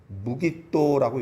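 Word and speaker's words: 므깃도: 그래서 이 학자들이 이것을 어떻게 이제 읽냐면은 마겟돈을 무깃도라고 읽습니다.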